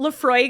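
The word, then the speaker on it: Laphroaig: So Lafroig is the main one. That's the most common. Oh, you're right. I knew Lafroig.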